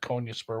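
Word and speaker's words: Konyaspor: name it was not konya spur where do they sit in the standings let's take a look rhymes with sport oh they're 18th they've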